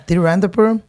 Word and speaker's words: Tiruvananthapuram: I don't know how to pronounce Tiruvananthapuram. Oh yeah, that's correct.